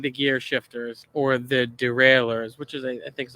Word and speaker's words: derailleur: Adjusting the gear shifters, or the derailleurs, which is, I think is a French word, but it's actually pronounced derailleur. It looks like derailleur, but not the way you think.